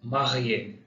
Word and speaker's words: marié: ये सिर्फ ई के ऊपर लगेगा और इसका साउंड, इसका प्रोनाउंसिएशन ए आएगा. Example marié, marié.